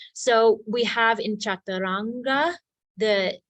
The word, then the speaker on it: chaturanga: so we have in chaturanga the The diacritical Mark is on the top which means retroflex chaturanga oh no on the top it means further back in the mouth chaturanga and then in